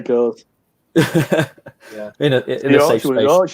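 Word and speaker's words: Gose: Because I said goes or goss or whatever, but it's Goza.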